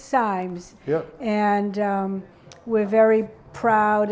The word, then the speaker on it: Simes: country but it's pronounced Symes and that's how we pronounce it and we pronounced it just like we pronounced dime yeah it's it's it's Symes yep and we're very